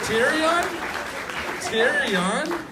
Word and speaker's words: Tyron: Did I pronounce that right? Tyron. Terry on?